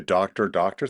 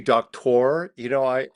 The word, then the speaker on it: Doktor: I thought you were going to say the doctor thing. I almost did. I almost did. I His totally last called name is it. Doctor. It's actually Doktor.